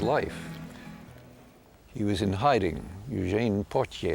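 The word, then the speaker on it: Eugène: he was in hiding Eugene I think that's how he pronounced his name and that very month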